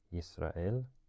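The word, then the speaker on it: ישראל: what they choose, because they probably knew that in Hebrew it is pronounced Yisrael, and to be phonetically consistent they would probably use the simkat because of that.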